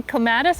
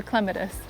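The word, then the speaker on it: clematis: Do you say clatus or clemetus? I switch back and forth depending on who I'm talking to cuz I've been corrected so many times. Saw that you could pronounce it either way.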